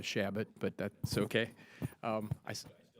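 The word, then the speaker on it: Chabot: thank you very much we pronounce a shabot but that's okay um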